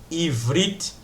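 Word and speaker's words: עברית: Então, como vocês podem ver aqui, Ivrit, que a pronúncia em hebraico da palavra hebraico, você começa da direita para a esquerda.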